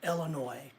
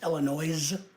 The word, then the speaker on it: Illinois: in Illinois the year the the state of Illinois and uh in case you guys didn't know